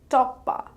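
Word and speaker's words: টপ্পা: In words, we can get Toppa, which is a genre of classical music. It is pronounced as Top Pa and spelled as To Poi Poi Akar, Toppa.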